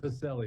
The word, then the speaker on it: Pacelle: Is it Pacelle or Pacelle? Just want to make sure I get that right. Pacelle. You got it right the first time.